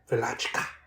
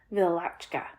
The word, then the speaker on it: Wieliczka: Wieliczka. Wieliczka. That's what it was, yeah. Wieliczka.